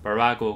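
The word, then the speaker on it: Virago: 비라고 아는 출판사가 있었어요 표기상으로는 비라고 이제만 발음 상은 원래는 브라고 좀 더 가까운 거 같습니다이 비라고 말로는 무슨 뜻이었나은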